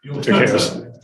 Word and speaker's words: Decatur: Decatur.